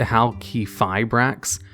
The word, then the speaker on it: Halqifibrax: say its name correctly i'm pretty sure it's pronounced how key fibrax but i'm probably gonna